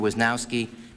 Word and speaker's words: Wisnowski: I believe the correct pronunciation is Mr. Wisnowski and Mr. Sarabin.